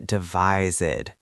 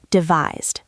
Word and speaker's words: devised: We don't say devised. No, because devise ends in a voiced sound. That z sound. The ed d sounds like a d. devised. Smooth connection. We devised a plan.